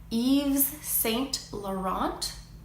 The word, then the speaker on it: Yves Saint Laurent: also in fashion is Yves Saint Laurent or Yves Saint no home so in French when there is a tee at the end you very rarely pronounce it elicits in feminine form